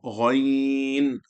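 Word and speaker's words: غ: When you're saying Gha, make sure they're not saying Goy, Ga. They're not saying Gai, Gha. Say Gha, Ghain, Ha.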